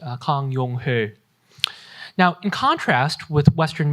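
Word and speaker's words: 강용흘: Young Hil Kang was how he spelled his name in English. In Korean, his name would be pronounced Kang Yong-ho.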